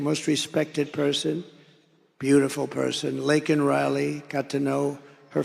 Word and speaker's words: Laken: never call and then he pronounced her name wrong remember he called her Lincoln remember that in Congress he called her Lincoln didn't even have the respect of knowing her name who was out for a